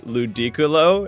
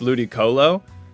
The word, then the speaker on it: Ludicolo: pronunciation of mine but I would say ludiculo as opposed I think it's Ludic Colo.